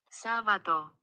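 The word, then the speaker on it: Σάββατο: diferente en el griego Cómo se dice una vez más sábado en el en la Grecia de hoy sábato Ahí está s en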